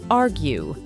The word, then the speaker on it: argue: and potentially contentious disagreement the verb is stressed on the first syllable argue to produce the American R remember to curl the tip of your tongue and pull it back a bit while keeping the tongue tense argue about stop arguing